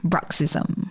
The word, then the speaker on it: bruxism: this Quest are going to be talking about bruxism what what do you know what that is